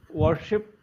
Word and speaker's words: worship: Worship. Yes, worship. Now, while you're saying worship. I worship the Worship. god. This Worship. wa, that wa needs to be a little bit more focused.